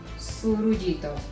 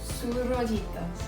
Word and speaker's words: surullitos: So give me 1 second to start with the surullitos. How do you say that name? Surullitos.